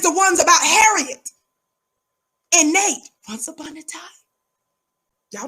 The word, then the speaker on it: Nat: ones about Harriet and Nate. Once upon a time. Y'all know how I feel. There was a little man by the name of Nate. For Nat, it rhymes with cat.